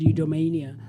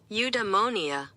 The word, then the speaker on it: eudaimonia: So let's quickly find the correct pronunciation of the word eudaimonia. Let me see there very quickly. Eudaimonia.